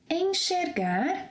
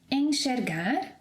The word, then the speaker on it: enxergar: It will also have this sh sound whenever it comes after the sequence en, as in enxergar, repeat after me, enxergar, enxaguar, enxugar, enxaqueca.